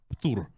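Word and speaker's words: ПТУР: And in Russian language, this abbreviation sounds like ptur. Yeah. Just one syllable, which means that saying it is quick and easy.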